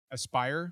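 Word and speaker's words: Aspyr: I think it's pronounced aspir Aspire Aspire Aspire makes more sense actually now that you say that I think it's Aspire um they've done a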